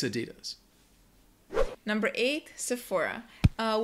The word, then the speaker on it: Sephora: it's Adidas number eight Sephora uh with this word just make sure you know that the pH makes an F sound Sephora this is one of